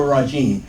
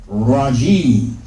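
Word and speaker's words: الرجيم: But we only pronounce it as one syllable because when you come to the end of a phrase, an expression, then you drop the last vowel. So although this is jimi, we drop this in pronunciation and just say jim.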